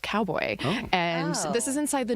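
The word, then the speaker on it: Kaubo: So, cowboy is spelled K A U B O, but it's pronounced cowboy.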